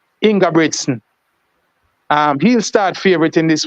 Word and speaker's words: Ingebrigtsen: Jamaican will say Jacob, but they pronounce his name Jakob Ingebrigtsen.